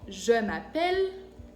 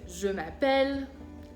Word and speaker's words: je m'appelle: Por eso, el verbo s'appeler, que se escribe con una L, se dice s'appeler. Pero cuando ya digo je m'appelle, me llamo, entonces si la E cambia. Entonces, je m'appelle, belle, fillette, son otros ejemplos.